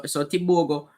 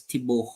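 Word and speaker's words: Tebogo: All right, so Tibogo, oh, by the way, my Botswanan friend gave me the proper pronunciation of his name is Tiboho.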